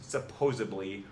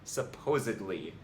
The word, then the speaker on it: supposedly: The fact is, most people who use supposably really mean supposedly and should pronounce it as such.